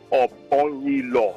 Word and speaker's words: Obong-Daniels: My name is called Obong-Daniels. Obong-Daniels. Peter. You have to pronounce it for me.